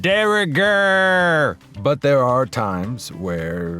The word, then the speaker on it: de rigueur: It's pronounced de rigueur.